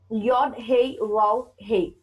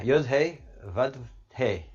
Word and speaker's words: Yod Hey Vav Hey: Name of God, Yod Hey Vav Hey. Please pronounce this for me, Charles, please. Yeah, Yod Hey, Vav Hey.